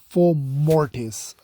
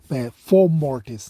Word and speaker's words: Fomortiss: four more days but it's four mortis I don't know that are in the second syllable always trust me of four mortis not four mortis but yeah I'll I